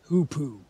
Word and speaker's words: hoopoe: Hoopoe. Apparently, that's how you pronounce the name of that bird.